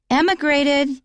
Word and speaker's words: emigrated: the next word he emigrated it starts with an e pronounced emigrated that means to leave